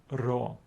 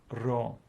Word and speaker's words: rho: the English letter P but it is the letter raw and it gives us a sound re as in the word rod correct correct this is raw yeah okay correct continue on so remember it is not P it is the letter rho the next letter is